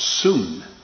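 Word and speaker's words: σύν: is which is uh spelled in the english s-u-n but it is pronounced soon and if you were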